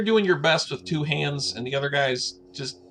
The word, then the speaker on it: Han: is someone going to correct lando that it's pronounced han darth vader can't really sneak up on anybody